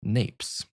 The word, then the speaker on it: Gnapes: Gnapes says, or is that just Napes? Because the G is silent.